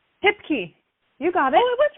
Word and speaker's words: Hipke: hi how do you say your last name tip key you got it what's right okay okay very